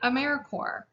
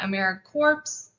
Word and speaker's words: AmeriCorps: pronounce americorps we say americorps we're alive and well you can say it like the core of the earth or marine corps we are not americorps or americorp or anything